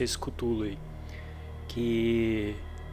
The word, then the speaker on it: Cthulhu: Acho que é assim que se pronuncia esse Cthulhu aí.